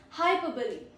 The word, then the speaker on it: hyperbole: Then is hyperbole.